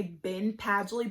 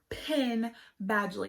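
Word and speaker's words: Penn Badgley: you do know are pin badgely i think i said it right but i think i always get it mixed up i want to say ben padgely but it's pin badly he is from gossip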